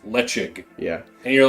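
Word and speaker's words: Ledaig: ones like what's like let's spell l-e-d-a-i-a-i-g yeah and it's pronounced lechik yeah and you're like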